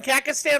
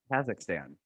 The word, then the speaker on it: Kazakhstan: to pronounce what's wrong am i saying kakistan wrong yes absolutely oh god just stop just stop so someone said someone else say it yet say it kazakhstan okay anyway okay we'll